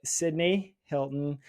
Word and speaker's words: Cydnie Helton: you're really gonna like this one I have cydney Hilton and Olivia GTH did I pronounce those names right girls perfect yes perfect